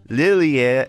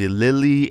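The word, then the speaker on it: Lillie: name was very irritating it's Lily and loose amen so apparently their correct way to pronounce is Lily and zameen and I pronounced in the video as Lilia Lilia and lasagnine now I have some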